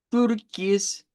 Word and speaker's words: Türkis: Türkis. Ya con tu, tu, con u, u, como hacer la i y la u al mismo tiempo.